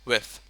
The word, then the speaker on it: with: that's a problem so we we call it with with with with with yeah with did I